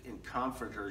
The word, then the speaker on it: comforter: I said last week the emphasis on comforter should be in the second syllable form fortified strengthens other